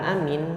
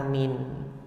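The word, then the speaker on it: آمين: Yang pertama adalah bimaddil hamzah wal mim. Jadi hamzahnya dimadkan a dan kemudian mimnya di dimadkan juga atau dipanjangkan amin. Kemudian pelafalan yang kedua yang dinukilkan oleh ee Al Imam Ibnu Katsir dalam ee tafsir beliau memendekkan hamzahnya yaitu qasrul hamzah. Hamzahnya dipendekkan dan memadkan, memanjangkan minnya. Amin.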